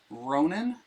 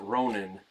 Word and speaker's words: Ronan: Drives me a little crazy that in the movies they pronounce it Ronin, like a masterless samurai. The Adventurer. When it's Ronan. Ronan.